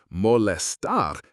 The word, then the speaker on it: molestar: In Spanish, the word molestar, pronounced molestar, exists. But while it sounds like the English molest, its actual meaning is far less sinister.